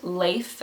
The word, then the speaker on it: Leif: You can also pronounce it Leif, L-E-I-F, and that's more the Scandinavian version, but this one is more like nature reference.